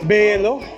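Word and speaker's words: Beyoğlu: Beylo, halk, doner. Beylo, halk, doner. All right. Highly recommend it. If you want to grab a bite while you're roaming around on Istiklal, check this place out. Beylo, halk, doner.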